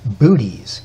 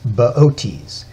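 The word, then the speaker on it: Boötes: in the lap of baotis if you saw his name spelled out you'd want to pronounce it booties but it's baotis he's got a big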